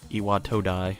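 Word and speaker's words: Iwatodai: he was he is an iwat da or IAT toai yeah that's how you say it station and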